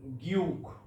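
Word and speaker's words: 기역: এটা হচ্ছে কোরিয়ান বর্ণ উচ্চারণ গিউক গিউক বাংলা হলো গটা হলো নিউন নিউন বাংলা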